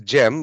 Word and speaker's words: Gem: couple of hands uh chem I hope I'm pronouncing your name right I hope I'm not butchering it uh but please um feel free to ask me a question uh in fact it is Gem but no problem so